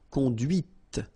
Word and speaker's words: conduite: And that's when you hear the difference between conduit, because remember, final T is not pronounced, conduit, here, and then the feminine, conduite. Okay, so here you can listen to this t, t, okay, conduite, right?